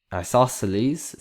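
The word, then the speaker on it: isosceles: Next one isleselles that's how you say it. Isosles the side lengths.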